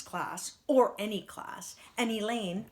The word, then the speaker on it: Elaine: or any class and Elaine rhymes with pain the unteachable have been removed from the student body and isolated in room one one seven their teacher is mr.